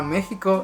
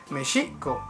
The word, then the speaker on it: Mexico: Inclusive la misma pronunciación de la palabra México está castellanizada, ya que en lengua mexicana, mexicatl, o en lengua náhuatl diríamos Mexico en vez de México.